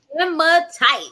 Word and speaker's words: hematite: It's Hematite. Hem. I don't know. I'm not Hematite. hematite. There we go. Thank Hematite. you, Mhm. Melvina. Teamwork makes the dream work. Hematite.